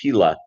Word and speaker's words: Thiel: Say, my last name is Thiel, T as in Thomas, Hiele. In German, pronounced Tila.